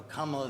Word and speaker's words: Kamala: No, Kamala is the right way to say it. It's Kamala. Is it not Kamala? No, Kamala is the right way. Like if you say It was governmental. Kamala.